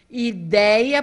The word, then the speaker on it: ideia: Ideia, porque vejam, é paroxítona, a última sílaba é o A. A forte é dei.